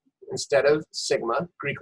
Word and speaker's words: sigma: mention that here that symbol is lowercase that's pronounced sigma so sigma squared is population variance and then